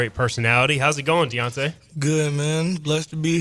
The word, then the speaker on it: D'Anta: Right, because like obviously, so yours is Deontay. Yeah. How many people pronounce it like Deonta or mess it up? Deonta. They call me Dante. Donta.